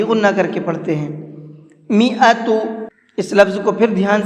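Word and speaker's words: مائة: تا پیش تو، میعۃ۔ یہ جو الف ہے یہ الف نہیں پڑھا جائے گا۔ حبہ، جب میں نے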